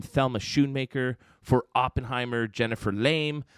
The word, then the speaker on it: Lame: Thelma Shunmaker for Oenheimer Jennifer Lame. I really hope I didn't mispronounce that, but there's no Exante Goo over the E, so I'm just going to say lame.